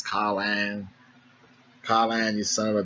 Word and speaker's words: Conlan: Michael Conlan taking on. I always got a concert because, I know my pronunciation of words ain't the best, and I was saying his name Colin, and some Irish people